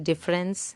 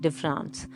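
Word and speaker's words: différance: you can you know pronounce it with a slight french twist like de france it's a portmanteau word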